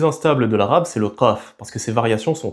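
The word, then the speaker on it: ق: Il s'agit du son q prononcé au fond de la gorge et il est prononcé g dans une grande partie du monde arabe, dans la péninsule arabique,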